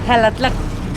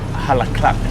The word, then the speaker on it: Jalatlaco: de Jalatlaco. Jalatlaco. Jalatlaco. Así. Muchas gracias. All right, you heard it there first from a local. Jalatlaco.